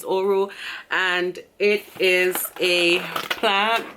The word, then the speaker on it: Orro: the name of the drink is oral hope i pronouncing that right it's oro and it is a